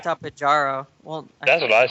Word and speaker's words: Tapejara: There's your inner Spanish coming out, keeping Tapejara. that J silent. Oh, Good man. job, Fred. Ese Tapehara. Oh man. Oh, Tapejara. I think you need to roll that R too. Yeah. Tapehara.